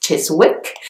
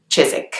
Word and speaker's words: Chiswick: you would pronounce it Chiswick but the W is silent so it's just Chizik the next one is